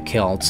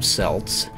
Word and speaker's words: Celts: So what's interesting about the Celts, and you can also pronounce them Celts, they're both correct, the Celtic people are